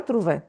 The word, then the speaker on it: trouvé: Il a trouvé. He found. Here you see l'accent aigu. L'accent aigu means we pronounce it. Il a trouvé. L'accent shows you that you need to pronounce.